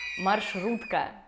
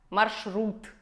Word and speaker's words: маршрут: Как и многие другие слова, в котором есть сочетание звуков «ш» и «р». Шрам, шрифт, шрек, маршрут, маршрут. Маршрут.